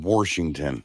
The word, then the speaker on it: Washington: like it's worth noting how do you feel on Washington or the washing machine uh well I mean it's you're saying it wrong I know there's no R I know but people